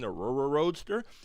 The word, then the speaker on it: Rrroadster: And if anyone is not sure why I keep saying the Rrroadster, it's because it is spelled with 3 R's.